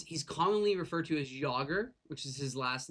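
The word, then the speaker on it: Jágr: He was he's commonly referred to as Yogger, which is his last name, which is spelled J A G- R.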